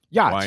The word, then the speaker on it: YOT: Yacht. YOT. Yes. Yacht. Yeah, they Okay. pronounce it yacht, and it's owned by Mike And Linder.